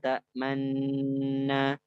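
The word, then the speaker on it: تأمنا: Jadi bacanya malakala ta'manna, manna.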